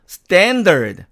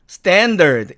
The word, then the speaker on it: standard: 그래서 이것은 미국식으로 발음하니까 standard, standard 이렇게 발음이 됩니다.